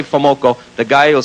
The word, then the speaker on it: FoMoCo: f o m o c o and it's pronounced famoco now you go to any any dealer in the world sells them parts and you say famoco the guy will say a little chunk of